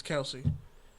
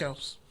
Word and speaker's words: Kelce: Because Kelce, when you see it spelled like that, you assume it's Kelce. Nope, it's Kels.